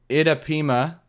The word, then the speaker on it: Itapema: Why would they put the challenge tournament in Itapema? Is that how you pronounce it? Yep.